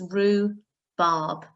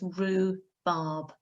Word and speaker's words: rhubarb: okay so you don't pronounce the h it's rue barb and the u is making the ooh sound okay so it's rue barb next up i'd like